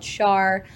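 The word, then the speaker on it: Schär: you spell that sure so Char is spelled um s-c-h-a-r um it actually is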